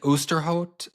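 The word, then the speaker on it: Ousterhout: I was listening to, is his last name Osterhout? Is that how you say it? It's like Oosterhout. Oosterhout, because there's so many people I just know by text, by reading.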